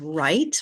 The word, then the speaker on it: write: a silent W and you could add the words write like to write your name or this is wrong both with the w that the W is silent throat has a vowel